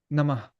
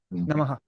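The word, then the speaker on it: नमः: But from the most respected Sanskrit scholars that I've met, they say that it should be just silence. Like Namah, like that, Namah. You Yeah. know, but I think especially in North India, it's a common practice to echo it, like a short echo. So Namah, Namaha. But like not like Namaha, but like right. you know, and so you echo the vowel at the end wherever it comes.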